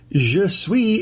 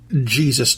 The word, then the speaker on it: Je suis: Je suis is spelled J-E space S-U-I-S. It is not Jesus Charlie, nor is it Jesus Charlie.